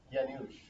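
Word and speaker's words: Janusz: Yanush. Yanush. It's kind of a harder one to say because it's a Polish name.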